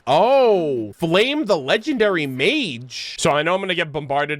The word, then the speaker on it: Flamme: am now aware that her name is pronounced Flame the legendary Mage so just wanted to get this out of the way otherwise I know a lot of people were going to mention it in the comments I apologize I'm an American I don't know how to pronounce things it read flame with two M's and I just ran